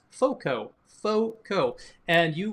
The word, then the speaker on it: FOCO: a bit yep that place is called is pronounced foco FCO and you right now can get 10%